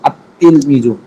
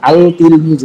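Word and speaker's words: التلميذ: আল তিল মিজু এমন না, আল তিল মিজু এমন হয় না, বরং আত্তিল মিজু। তা ধরবে, আলিফটা সরাসরি তাকে ধরবে, লাম বাদ পড়ে যাবে। লামটা লেখায় আসবে, উচ্চারণে আসবে না।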